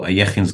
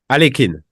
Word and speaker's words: Alekhine: Things we call Ayekhin's gun. How do you pronounce Ayekhin in French? Alekhine. Alekhine. Yeah. Why? No, just curious. Okay. In German? We say Ayekhin.